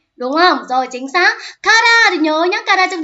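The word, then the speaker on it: 空: Kara thì nhớ nhá, kara trong trường số 2 này, chứ không ngoài cái đọc là sora là bầu trời thì còn có đọc là kara nữa, đúng không?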